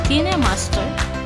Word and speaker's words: Kinemaster: It's Kinemaster. It's like how the creator of the app pronounces it.